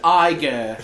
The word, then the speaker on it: Iger: clearly so it's pronounced AER yes it's a tiger without the tea like like the character